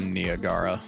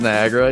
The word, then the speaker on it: Niagara: There's enough Unreal people in here that somebody else has to have come across a tutorial where the guy says Nagara. instead of Niagara.